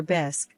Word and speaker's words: bisque: Martha, midbite of her lobster bisque, which she pronounced bisy with a forced accent, suddenly fixed me with a steely gaze.